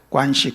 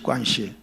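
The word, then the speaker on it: 关系: 많죠 그 중에 하나가 관시 하는 문화입니다 권시은 관계라고 하는 한자의 중국어 발음입니다 관시 관시 그 사람들은 이것보다 중요한게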